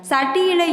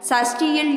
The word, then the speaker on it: சஷ்டி: சட்டியில் இருந்தால்தான் அகப்பையில் வரும் என்று ஒரு பழமொழியை கேள்விப்பட்டிருப்போம். ஆனால் உண்மையில் இது அப்படி அல்ல. சஷ்டியில் இருந்தால்தான் அகப்பையில் வரும் என்பது தான் சரியான உச்சரிப்பு ஆகுங்க.